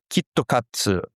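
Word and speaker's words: キットカット: 90s when some students, they said Kit Kat, pronounced with a Japanese is kittokatsu.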